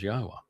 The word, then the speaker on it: Yahowah: I systematically prove, irrefutably, that the proper pronunciation of Yod He Wah He is as Yahowah.